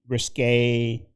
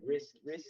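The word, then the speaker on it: Riske: Allison Risque Amora, if I pronounced that right, from Peter's Risk Risk Allison Risk.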